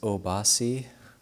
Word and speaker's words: Obhasi: Your name is Obhasi, Radiant Splendor. So that's a 3-syllable name, short, easy to remember, Obhasi.